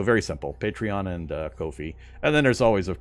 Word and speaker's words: Ko-fi: of people pronounce it coffee and that's kind of what they lean into is hey buy me a coffee but it's actually pronounced Kofi it's like no fee Kofi that that's how it's